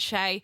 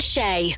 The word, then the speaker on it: Chae: Yeah, cuz my name's weird and it sounds weird when you say it, but it's spelled a different way.